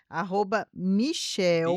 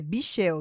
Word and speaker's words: Bichel: @Michel, Bichel, é Bichel, desculpa, olha eu errando. Bichel com B, gente. Bichel com CH, um L só.